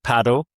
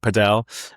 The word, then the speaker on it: padel: So look, strictly speaking, paddle. I'm going to say that. It is, a lot of people will call it padel.